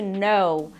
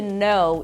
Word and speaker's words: know: O próximo verbo é to know. To know, isso mesmo, tem um K no começo, mas a gente não pronuncia a letra K quando ela vem seguida de N, ok?